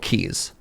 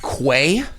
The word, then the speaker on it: quay: These are called keys. They look like it it should be pronounced quay, but it's called a key, right?